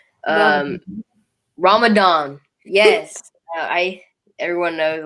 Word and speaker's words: Ramadan: tiny talks we're going to be talking about radom yeah radam um ramadan yes i everyone knows like i suck at pronouncing names so just know that yeah ramadan